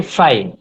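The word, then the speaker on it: frei: এই আই থাকলে আয়ের মতো উচ্চারণ হয়। যেমন হচ্ছে ফ্রাই, ফ্রাই।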